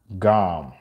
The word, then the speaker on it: GAM: The best way to contact Lord Ganesha is through the sound GAM. Thank you, Sadidi Housewife. That's how you spell it, G-A-M.